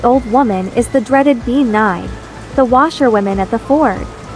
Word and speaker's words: Bean: woman is the dreaded be n the washer wom at the Ford the bean n pronounced Ben is related to the